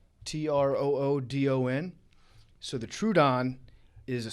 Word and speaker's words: Troodon: my last one is i think it's pronounced the true the true dawn t-r-o-o-d-o-n so the troodon is